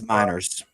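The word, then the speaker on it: Meinerz: Next, he says Clark beats, and someone in the chat had said they think it's pronounced Miners. It's Miners. Miners.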